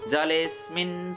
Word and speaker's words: जलेस्मिन्: जलेको पछाडि आधा स लिएर जोड्नु होला। जलेस्मिन् सन्निधिं कुरु, जलेस्मिन् सन्निधिं कुरु।